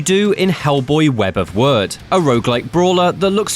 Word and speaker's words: Wyrd: your screen and yes that is how you pronounce it it's web of words not web of weird oh I you trespass